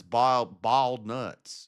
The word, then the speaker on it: boiled: Bald nuts is how you say it.